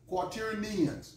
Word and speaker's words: quaternions: Quaternions. Quaternions is how you pronounce that word.